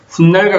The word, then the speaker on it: 훗날: 훗날과 같은 표기의 근거는 3-3에 찾을 수 있다. 자, 훗날에서 일어나는 일은 후다기 한자어죠. 한자 후와 날인데 발음을 하면 훗날, 없던 니은 소리가 덧나죠.